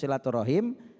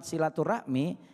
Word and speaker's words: silaturahim: adalah maknanya menyambung hubungan Tetapi kalau kalimat silaturahmi itu adalah bahasa ejaan kita bahasa Indonesia orang bilang silaturahmi Ya kalau dalam bahasa Arabnya silatur rahim orang kita bilangnya silaturahmi sama kayak bahasa